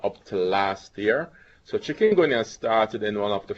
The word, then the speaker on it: chikungunya: Doctor, you'll have to help me with the pronunciation. Chikungunya.